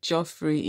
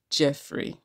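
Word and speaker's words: Geoffrey: I know I called him Joffrey instead of Jeffrey earlier. Um, yes, some people depending on location say Joffrey or Jeffrey, but his own name is pronounced as Jeffrey.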